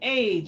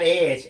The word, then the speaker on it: Age: The Gilded Age. Not Edge, Age. Age. Yes, Age.